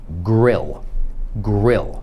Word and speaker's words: grill: to się mówi parking następne słowo to jest polskie słowo grill ale po angielsku to się mówi grał na przykład The One